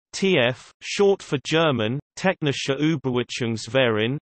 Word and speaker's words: TÜV: TUVs, German pronunciation, TF, short for German, Technischer Überwachungsverein, English, Technical Inspection Association, are German businesses that provide inspection and product certification services.